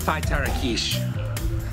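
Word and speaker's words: fitorukesh: associated with bets uh this is an important term that's going to be mispronounced by everyone i guarantee you that it's a five tara quiche f-i-t-o-r-u-k-e-s-h this is the currency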